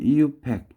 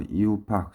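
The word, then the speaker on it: IUPAC: 근데 1바로 1982년경에 선생님은 이유팩 이렇게 발음하는데 이유팍이라고 명명을 하더라고요. 그래서 이유팍, 쌤은 이유팩인데 이유팍.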